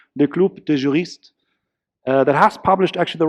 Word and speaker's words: Le Club des Juristes: prominent think tank called, and I'll pronounce this correctly in French, Le Club des Juristes, that has published actually the report, ironically called Online Arbitration, his very topic today.